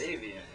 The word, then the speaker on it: Aveyen: This is aveyen. Who is it? Again? Aveyen. Aveyen. A-V-E-Y-E-N. Spell it with date of birth.